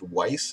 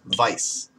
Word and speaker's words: Weiss: it's not actually supposed to be spelled or pronounced Weiss it's supposed to be spelled Vice um so this is a vice a bison